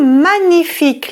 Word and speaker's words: magnifique: Magnifique. We don't pronounce the G.